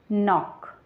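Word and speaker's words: knock: हम पढेंगे नी वैसे यहां पर लिखा है कि एनओसी के तो इसको हम कुछ नहीं पढेंगे इसको हम पढेंगे नाक पढेंगे नामक इस तरीके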